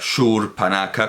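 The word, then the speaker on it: Śūrpaṇakhā: Para pronunciar Shurpanaka con una U larga.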